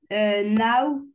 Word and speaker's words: know: On prononce Oui, pas le K. D'ailleurs, en règle générale, quand tu vas avoir un K et un N juste après, on prononce jamais le K.